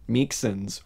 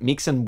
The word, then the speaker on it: Meiksins: thing origins of capitalism i'm gonna say her name correctly this week ellen meekson's wood i said meeks and woods i said uh meek sins woods i said meek simpson's wood and i think that's